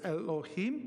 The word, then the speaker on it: Elohim: Okay, that says Elohim. Remember, you're reading right to left. Okay, what does Elohim, and that's how you pronounce it. So you would think, surely the Lord, Adonai, the Lord God, Elohim, will do asa, nothing, davar, but he revealeth,